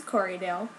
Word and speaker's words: Corriedale: the best camera but this this this is corydale that's how you say it um and it